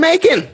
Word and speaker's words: Macon: say it right what you can make bacon and macon oh gosh okay i